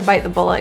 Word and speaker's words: bite the bullet: I didn't want to deal with the big mess, but I had to bite the bullet and just get it done. The T's in bite and bullet are not released.